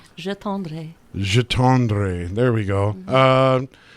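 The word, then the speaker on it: J'attendrai: How do you pronounce it? Yeah, it's a French song. It's called Je tendrai.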